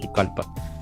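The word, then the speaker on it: Pucallpa: la Tierra Colorada pcpa doble l pero se pronuncia pucalpa Sí sí Y hasta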